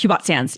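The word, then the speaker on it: Hubot Sans: and the hubot font hubot sand is it hubot sand that how you say it yes hubot sand yeah looks a lot like the font you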